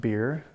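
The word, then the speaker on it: Biery: is Berry uh it's b i e r y and pronounced beer beer so and I'm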